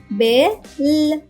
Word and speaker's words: bell: ఈ పదంలో ఎల్ అనే అక్షరం 2 సార్లు వచ్చింది. కానీ ఈ పదం ఉచ్చరించేటప్పుడు మనం ఈ అక్షరం యొక్క శబ్దం 2 సార్లు కాకుండా ఒక్కసారి తీసుకోవాల్సి ఉంటుంది. అంటే BELL యొక్క ఉచ్చారణ అవుతుంది బిఈ యొక్క శబ్దం బే. LL యొక్క శబ్దం ల్ కాకుండా ల్ అవుతుంది. కాబట్టి BELL యొక్క ఉచ్చారణ అవుతుంది బే ల్ బెల్.